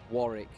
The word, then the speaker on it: Warwick: I want everybody to say this, and everybody at home, Warwick. Warwick. It's my town of birth. It's called Warwick. There's no... The W is silent, the second okay, one.